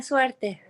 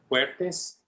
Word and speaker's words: suerte: Buena suerte. Good luck. Good luck. How do you say Buena it? suerte. Fuertes.